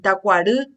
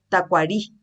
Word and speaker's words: tacuarú: Por eso ustedes se dan cuenta que cuando el argentino o el uruguayo dice, por ejemplo, pronuncia, por ejemplo, un término que tiene este sonido lo convierte en i. Por ejemplo, va a decir tacuarú y dice tacuarí, ¿verdad?